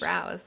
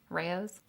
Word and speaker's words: Rao's: I think it's Rouse. I guess I don't usually say it out loud. Yeah, Rao's. Rouse sauce was on sale at Costco.